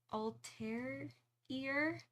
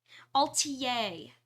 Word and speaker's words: Atelier: to pronounce this word it's like French I know terrible that I'm like stumbling over this altier. That's it. That's it.